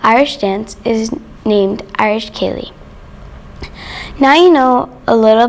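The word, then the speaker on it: ceili: dance well it's not our chance is called kaylee pronounced k lee when people hear it they pro when they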